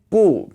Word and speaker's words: 不: 不 by itself is said with a fourth tone. But when it's in front of another fourth tone like 太, it becomes a rising tone.